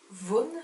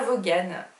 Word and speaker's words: Vaughan: on me dit dans l'oreillette que ça se prononce brian von ébats vaughan voilà vous prononcez pas volé ce qu'il yaa